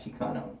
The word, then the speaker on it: Xicano: Chicano. Yeah. So, so tell me about the brand. Did I spell it wrong?